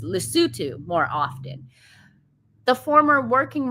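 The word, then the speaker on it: Lesotho: was perturbed that Harry had failed to visit Lysoto more often. Or hold on, you guys told me how to pronounce it. It's Lutu more often.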